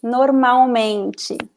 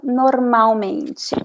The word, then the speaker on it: normalmente: Normalmente. Obrigada. Remember that we don't pronounce the L. Normalmente.